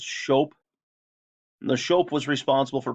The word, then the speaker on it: scop: There's the Shope. That's a bard or storyteller. I know it looks like scop. It's pronounced Shope.